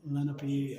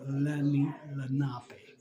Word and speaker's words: Lenape: Some people say it Lenape and Lenape, but it's Lenape. Is the proper pronunciation from what I was told at 2 locations already.